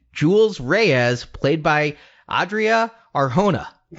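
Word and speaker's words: Arjona: I'm pretty sure Arhona is correct.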